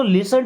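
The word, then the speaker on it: listen: सो लिसन to music. लिसन इस word में भी आपको बताना है कौन सा वर्ड साइलेंट है।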